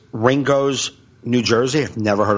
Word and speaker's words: Ringoes: I'm at Old York sellers it's uh it's Ringo New Jersey I've never heard of Ringo ever